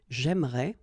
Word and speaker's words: j'aimerais: So it will go like j'aimerais, or then j'aimerais. Remember, phonetically they are the same.